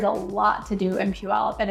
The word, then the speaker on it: Puyallup: And that is kind of fun to say if you've never said it before, so practice with me. Puyallup. That's how it's said.